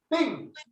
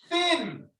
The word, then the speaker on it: thin: Thin. Yo no estoy poniendo la lengua así. La única manera de pronunciarlo correctamente, tengo que poner la lengua.